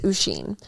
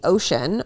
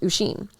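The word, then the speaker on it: Oisín: My name is Usheen. Sister-in-law calls me Ocean or Oceane, depending on how hard she tries, but my name is pronounced Usheen.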